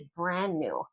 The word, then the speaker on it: brand new: Okay, first synonym for new is brand new. Brand new. Notice how I don't pronounce the D there.